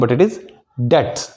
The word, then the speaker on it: debts: B is silent here. It is debts.